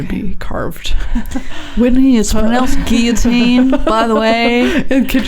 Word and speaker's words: guillotine: can say Guillotine too guilotine is the French pronunciation but it's a cognate in our language yeah Lucas was like